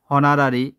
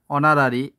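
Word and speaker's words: honorary: What is the correct অ্যান্টোনাম হনারারি? হনারারি শব্দের অর্থ হচ্ছে, এখানে সঠিক উচ্চারণ হবে অনারারি, এর অর্থ হচ্ছে অবর্তনিক বা বিনা বেতনে বোঝায়।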